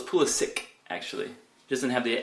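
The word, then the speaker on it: Pulisic: Dortmund because i' I've been told it's Pula sick actually he doesn't have the accent over the C so it's Pula sick I'll pronounce it how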